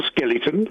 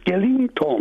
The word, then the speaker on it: skeleton: So why are you saying ing in the middle of it? I'm not. If you listen very carefully, I'm not. Warn you, beware the Ides of February. skeleton, spell Skellington. Yeah, no, not ing. You're saying ing, Skellington. Well, I'm not, because that's not how you spell it.